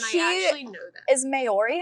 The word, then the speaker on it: Māori: Is Maori how you say it? I don't want to say it. Maori.